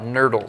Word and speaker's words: nurdles: It rhymes with turtle and doesn't belong in the ocean.